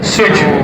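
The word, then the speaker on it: switch: समझ ले यह बताइए स्विच की स्पेलिंग क्या है स्विच इसमें टी की आवाज आ रही क्यों क्यों नहीं आ रही क्यों साइलेंट है कैसे पता चला य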